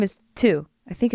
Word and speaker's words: Thu: hi my name is two i think it's that's how you say it it's t-h-u thu or two it's two i think two yeah two i love the podcast